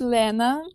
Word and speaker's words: Lena: So, my name is Lena, if it's more like Russian way to pronounce.